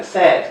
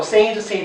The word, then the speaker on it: said: say 발음 좀 조심해라. say까지는 좋아. 그 다음 이거 said 아이고 뜻은 말하다고. 당연히 과거 형태는 어떻게 해야 돼? sad인데 우리가 슬픈할 때 발음하고 비슷한 경우인데 sad. 근데 이걸 자꾸 said, said 하는 친구들이 있어. 그렇지 않다.